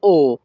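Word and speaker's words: ho: ভাষা হবে ও কমপ্রাত এখানে এইচ ও এর উচ্চারণ হবে ও অ হবে না কিন্তু আবারো বলছি আমি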